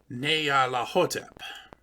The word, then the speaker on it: Nyarlathotep: Told me the name is properly pronounced and written as Nyarlathotep.